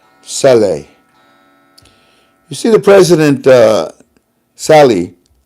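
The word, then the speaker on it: Salih: Iraq you see the president Chalet or I call him silly you actually pronounce it Sally you see the president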